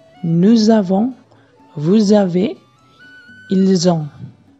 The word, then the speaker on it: nous: Jika S bertemu dengan huruf vokal, dia akan dibaca menjadi Z. Jadi, kita bisa ucapkan seperti nous avons.